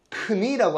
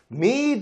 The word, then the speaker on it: knead: 라고 했는데 knead 이게 뭐냐면 앞에 K는 묵음이에요. 크니라고 하시면 큰일 나요, 여러분.